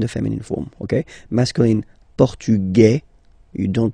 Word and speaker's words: Portugais: You write them differently, but then, if you listen carefully, Grec, Grec, you pronounce them the same way, okay? Le Portugal, Portugais, Portugaise.